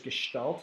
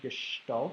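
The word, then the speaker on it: gestalt: first one then there's gestal that's how you pronounce that gestal it's a French word we talk about in a little bit or a German word sorry but we'll talk about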